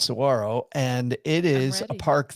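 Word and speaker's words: Saguaro: the name it looks like it looks like sagaro uh but it's pronounced Saro and it is a park that is known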